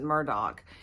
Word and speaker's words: Murdaugh: Murdock is it's either Murdoch or Murdoch he pronounces it Murdoch but um he's on trial now for the